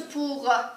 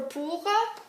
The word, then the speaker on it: pour: So that brings us to pour, because a lot of times you like to use j'ai étudié le français pour 1 heure. Pour, I think it just rhymes with for, so you're more likely to use it.